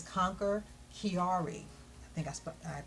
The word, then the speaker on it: Chiari: You notice her t-shirts, and it says Conquer Chiari. I think I pronounced that correctly?